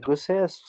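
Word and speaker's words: Nigussie: Yes, my name is Niguses. My first name is spelled as, and my last name is Niguse, N-I-G-U-S-S-I-E. Thank you, Mr. Neguse.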